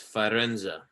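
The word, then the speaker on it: Firenze: Florence Italy all right in Italian it's fenza but this is where the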